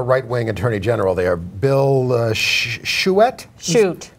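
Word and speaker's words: Schuette: I mean, you know, they have a right-wing attorney general there, Bill Shute. Shute? Is that how you say it? Yeah.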